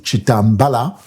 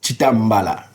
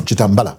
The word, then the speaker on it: Chitambala: the ballot, guys, is Chitembela. Period. Chitembela. Chitembela. This should be Bemba, right? Yes. Well, my names are actually be pronounced Chitembela? No, Chitembela.